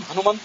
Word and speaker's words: ಹನುಮಂತ: ಶ್ರೀಮಂತ ಮೀನಂ ಹನುಮಂತ ಮಾಪುಹು, ಹನುಮಂತ ಅಂತ ಹ್ರಸ್ವವಾಗಿ ಉಚ್ಚಾರ ಮಾಡಬಹುದು. ಅಸೌ ಹನುಮನ್ನವವಾರಿದೋಸವು ಅಂತ ಮಧ್ವವಿಜಯದಲ್ಲಿ ಹೇಳಿದ್ದಾರೆ. ಹನುಮಂತಂ ಅಂತ ದೀರ್ಘವಾಗಿ ಕೂಡ ಪ್ರಯೋಗ ಮಾಡಬಹುದು.